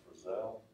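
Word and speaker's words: Fresnel: capitalize it anymore we don't uh but it's pronounced for cell and it's a special lens design that works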